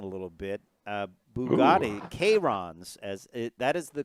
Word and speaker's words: Chiron: about this in a little bit uh bugatti k-rons as that is the correct pronunciation k-rock oh i thought it was chiron well chiron was a company that also a